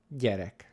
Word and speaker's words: gyerek: I like to explain it as if you pronounce the letter D, D, D, and you